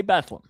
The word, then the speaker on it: Bethlehem: Yeah, but they say Bethlehem. They say Bethleam.